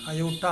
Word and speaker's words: aorta: At the time of pronunciation aorta அப்படி தான் சொல்லணும்.